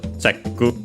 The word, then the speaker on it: チェック: Of course, I will check also the accent of chekku, but it should be accented. Yeah, and it was accented on the che as expected.